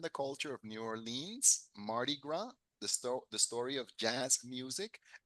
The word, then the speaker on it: Mardi Gras: Mardi Gras, que no pronunciamos la S, es un festival francés, Mardi Gras.